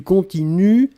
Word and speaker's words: continuent: prononcez je continue du continuent ils elle continue et ici le pluriel il continue u11 nt on écrit nt on ne prononce pas d'accord donc il continue